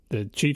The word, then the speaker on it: Qi: The Qi charger, am I pronouncing it right? Qi? I believe that's right.